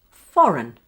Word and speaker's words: foreign: It's the word foreign. Did you hear the schwa sound for the spelling of EIG?